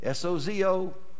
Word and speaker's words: sozo: S-O-Z-O, sozo, the pronunciation, S-O-D-E-Z-O, sozo.